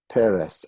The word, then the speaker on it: Peres: last name of shimon peres and you're not surprised anymore that a word with two cigars like that two vowels is going to be accident on the first syllable like my name this